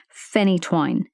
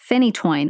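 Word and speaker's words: phenytoin: anti-seizure medication and anti-convulsant called Finney twine finny twine which I have a hard time saying but I am 94 sure that's the correct correct pronunciation so I will see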